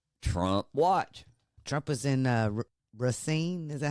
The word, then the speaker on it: Racine: Trump was in Racine. Is that how you say it? Racine, Wisconsin yesterday for another one of his massive rallies that the mainstream media doesn't want you to talk about.